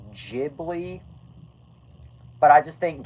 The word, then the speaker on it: Ghibli: Which, by the way, I know that it's actually pronounced Ghibli, but I just think Ghibli sounds more natural.